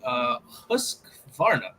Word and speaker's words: Husqvarna: Liverpool confirmed the groundbreaking new agreement as club officials chase £300 million target, and we've added Husqvarna. I think I pronounced that right.